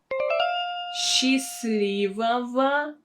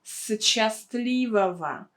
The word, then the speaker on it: Счастливого: Счастливого пути. Счастливого пути. So you should again pay attention to the transcription. We don't say счастливого. We pronounce it as sh.